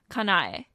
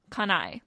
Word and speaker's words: Kanae: that actually makes a remember that each character within Japanese represents a syllable so they're each their own sounds and they don't mix